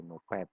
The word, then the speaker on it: NOPAT: Tulisannya NOPAT ya, tapi bacanya biasanya NOPAT gitu ya.